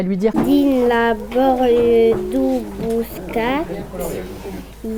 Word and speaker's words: Bouscat: On le voit bien dans la séance où Néo, au début, ne prononce pas le T de Bouscat ou il ne met pas le S à la fin.